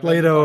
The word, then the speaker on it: Plato: Plato or something. High horse heaven. Yeah, Plato. Sure. It's like Play-Doh, but it's spelled like the stuff that you mold with your hands.